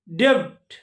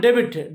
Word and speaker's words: debt: Ghost, island, all, debt, not debit, debt.